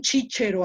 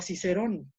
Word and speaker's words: Cicerón: Pero a mí no me gusta que le digan chíchero a Cicerón, ¿no?